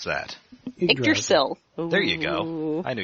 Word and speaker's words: Yggdrasil: It might as well be Yggdrasil, or however you pronounce that. Yggdrasil.